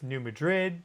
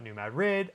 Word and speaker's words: New Madrid: That's how the locals say it. It's New Madrid, but the locals call it New Madrid.